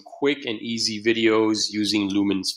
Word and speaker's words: Lumen5: there it's from - pronounced lumens but the S is they use a five instead of a instead of an S so just be mindful